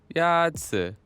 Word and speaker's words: 鸭子: Is it Yazi? 鸭子 Is pronounced with a first tone.